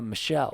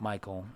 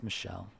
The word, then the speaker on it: Michel: No, Michelle, because, it's Michel. And that was, before I learned how to pronounce that name, it's not Michael, it's Michelle.